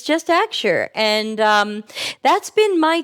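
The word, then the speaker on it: Axure: fan of aure axu r e which is pronounced aure not aure or a um it's just aure and um that's been my tool since February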